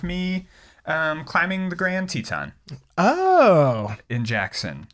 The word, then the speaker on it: Teton: um climbing the grand teton oh in jackson are you sure it's not pronounced titon it's the grand tit not